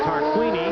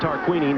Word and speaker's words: Tarquini: him get around you I've been mispronouncing his name all day long it is tarquini now here you see